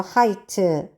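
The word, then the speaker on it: height: 여기서 얘도 발음 안 나고 얘도 발음 안 난다 그랬어. 하이트 명사죠.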